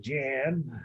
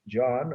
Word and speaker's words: Jan: and hubert von aike some people would say jan but that's the english pronunciation they were uh well